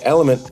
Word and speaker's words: LMNT: kept saying I put element in my water but uh I couldn't find it when I searched it it's because it's lmnt it's spelled l the letter L M and T and it is electrolytes